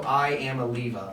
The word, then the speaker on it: Iamaleava: His name is literally Nico Iamaleava. Like I'm gonna leave you. Like that is literally like his name. That's what it sounds like. That's His good. name is literally spelled like I'ma leave you.